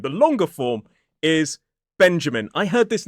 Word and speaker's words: Benjamin: Name number 4 is a 3-syllable word. Benjamin. 3 syllables, stress on the first.